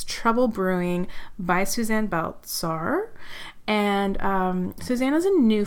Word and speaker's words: Baltsar: I have today Suzanne Baltsar. I should have asked you how to pronounce that. No, that's perfect, yeah. Baltsar.